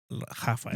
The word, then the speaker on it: Rafael: How do you say that in Spanish? Raphael. Raphael. Raphael. Raphael. He say Puerto Rican. Rafael.